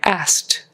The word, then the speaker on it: asked: All right, asked. We've got to get that final sound on that one because that indicates the past tense.